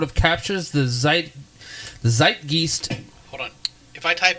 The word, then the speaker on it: Zeitgeist: a 1995 interview it sort of captured the Zeitgeist of the time I'm probably pronouncing that way wrong is zeitgeist there we